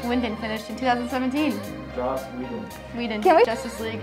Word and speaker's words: Whedon: Whedon. Okay. I'm gonna start by. Now let's cover just how different Zack Snyder's Justice League is from the version Joss Whedon finished in 2017. Joss Whedon.